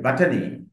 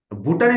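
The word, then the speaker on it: botany: হবে I study A বাটানি right ওকে তাহলে হচ্ছে ভুটানি না কিন্তু ভুটানিক বলে কোন শব্দ সম্ভবত ইংরেজিতে নাই আমি যতবার লিসেনিং এ শুনেছি বাটানি বাটানি নট ভুটানি ভুটানি সম্ভবত বাংলাদেশে ইংলিশ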